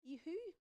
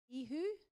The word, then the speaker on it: ihu: The next one is Jesus, ihu, ihu.